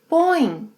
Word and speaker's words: põe: Você, ele, ela, a gente põe. Yes, it's a nasal sound. Think of a rubber ball bouncing, like põe, põe, põe, põe. Você, ele, ela, a gente põe, põe.